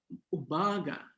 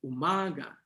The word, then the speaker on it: umaga: So umaga nandon sa second syllable umaga mas malakas yung ma kaysa dun sa u at saka ga.